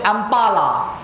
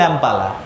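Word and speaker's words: ampulla: বলা হচ্ছে অ্যাম্পালা, AMPULL, এটা অনেকে অনেক রকম উচ্চারণ করে। আমার যিনি স্যার ছিলেন বি দত্ত, উনি বলতেন অ্যাম্পালা। শব্দটা আমার খুব ভালো লাগে, বলতে ভালো লাগে, শুনতে ভালো লাগে। আমি আর অ্যাম্পুলা বলি না, অ্যাম্পালা বলি। যদি আপনাদের খারাপ লাগে কারেকশন করে নেবেন।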